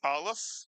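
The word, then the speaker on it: א: We've learned the alf which is a silent letter. It is a letter that has no pronunciation.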